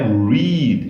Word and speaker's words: read: contexto você descobre mas no presente a pronúncia é read então é read read read vamos lá você tem aí read read R ok pessoal então é